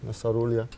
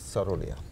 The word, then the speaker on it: Saroléa: Sarólea, but the accent is on the 'e' So how is it pronounced? Sarólea or Saroléa? - It is what you like it to be... - (chuckles) - We grew up saying Sarólea, but actually it is Saroléa - Yes, yes, okay good.